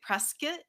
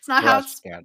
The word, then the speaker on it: Prescott: But the locals here say Prescott. Hmm. It's not Prescott.